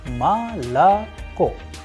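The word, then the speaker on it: молоко: vowels in any word for example the word Malacca which is also known as mode this pronounced s ma la cote because o is not under stress is going to turn into a sound of AA please pay attention to the structure of the word ma la Co I am pronouncing as if the word melaka has to are and at the end it has o ma la cote it is because the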